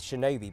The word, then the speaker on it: Shinobi: jumping higher in fact they probably weren't even called ninjas until recently with Shinobi being the more accurate pronunciation of the Ki but before you get